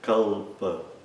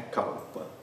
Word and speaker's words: kalpa: Nós, no Brasil, temos a tendência de pronunciar o L antes de uma outra consoante como se fosse U, mas é kalpa, não é kalpa.